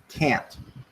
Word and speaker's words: can't: Can't is stressed and pronounced can't, with the final sound being a glottal stop.